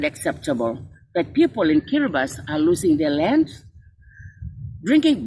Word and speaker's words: Kiribati: And just this afternoon, I was reminded that Kiribati should not be pronounced as Kiribati, but rather as Kiribati, the only country that